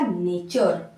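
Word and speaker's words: nature: ए टी यू आर ई क्या हो जाएगा नेचर ठीक है क्या हो जाएगा नेचर इसको नटू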